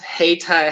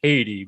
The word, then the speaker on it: Hayti: correctly right uh yes hey thai high school hey thai high school i originally wanted to say haiti but uh i'm glad